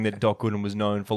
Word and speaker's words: Gooden: Because it rhymes with wooden. Apparently, it says here that Doc Gooden.